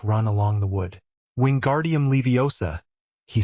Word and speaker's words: Leviosa: It is Levi OSA, not Leiosaur.